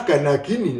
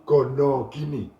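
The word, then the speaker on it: gana-gini: Istilah ganagini lebih populer disebut gonogini. Mungkin hal ini dipengaruhi oleh pelafalan bahasa Jawa yang sering menyebut vokal O untuk mengganti vokal A.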